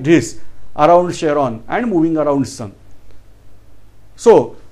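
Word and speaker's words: Charon: is having satellite Sheron spelled out as cheron but we have to pronounce as Sheron which is also moving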